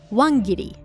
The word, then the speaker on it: wangiri: The term for the phenomenon of calling once and then hanging up is called wangiri in Japanese. Wan being the Japanese pronunciation for one and giri being to hang up.